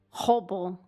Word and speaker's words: Robo: Hobo. Yeah. Interesting. It's like robot, but in Portuguese, that's what his name is. And how do you say robot in Portuguese? Hobo.